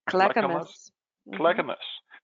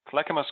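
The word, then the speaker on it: Clackamas: um CL how do you say it Amy clamus clamus County thank you Oregon so he'll show us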